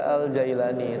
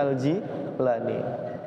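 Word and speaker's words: al-Jilani: nanti baca Syekh abdulir itu jangan dibaca aljailani tapi dibacanya aljilani Kenapa waktu guru saya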